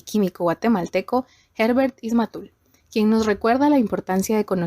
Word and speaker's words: Ismatul: Y corregime si pronuncio mal tu apellido, por favor. Sí, está bien, es Ismatul, así es.